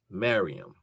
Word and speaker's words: Mariam: And the uh I guess the um Hebrew pronunciation for Mary is Mariam.